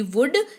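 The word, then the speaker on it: would: का इस्तेमाल करें तो लिखते वक्त जो है एल तो लिखा जाएगा लेकिन पढ़ते वक्त एल नहीं पढ़ा जाएगा एल विल बी साइलेंट जब आप वुड को पढ़ते हैं तो हम लोग इसको पढ़ेंगे व ओ यू दी वुड लेकिन लिखेंगे व ओ यू एल दी ठीक है तो वुड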